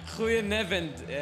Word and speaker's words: Goedenavond: Goedenavond, Amsterdam. Did I pronounce it right?